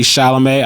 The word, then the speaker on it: Chalamet: We have Adrian Brody in The Brutalist, Timothy Chalamet.